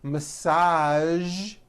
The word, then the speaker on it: massage: television very good now there are only a few words that have the voiced zh sound at the end a few of these words are the color beige the word massage and the word prestige okay now that you